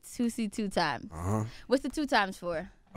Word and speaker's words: Toosii2x: I said it right, Toosii2x.